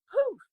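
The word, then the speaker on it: pouf: up what is it it is called a poof p-o-u-f well you're right it rhymes with roo there's so much fun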